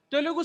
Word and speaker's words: Telugu: here it's mentioned as Telugu speaking areas. It is not Telugu, it is Telugu. Telugu speaking areas. We Malayalis will pronounce that Telugu. It is not Telugu, it is a Telugu speaking people.